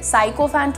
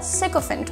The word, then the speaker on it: sycophant: Spelling देखिए, साइकोफेंट मत बोलिएगा, सिकोफेंट होता है.